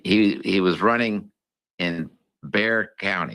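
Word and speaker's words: Bexar: It's called Bear County, but it's spelled B E X A R. Don't ask me why they don't pronounce the X, but anyway, that's what it is. In Bear County, he he was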